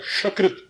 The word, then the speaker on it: शकृत: और इसी पर एक जगह है शकृत, शकृत, शकृत, चीटी वाला स जिसे कहते हैं तालव्य श।